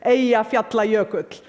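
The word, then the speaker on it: Eyjafjallajökull: friends including President Obama by the way the pronunciation is a efe apply a coat none of your media got it right but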